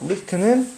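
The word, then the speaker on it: wrist: 리스트 W는 묵음입니다. 그래서 리스트는 뭐다?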